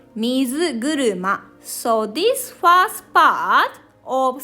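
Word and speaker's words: みずぐるま: two kanji get together like this we called mizu guruma so this first part of second kanji second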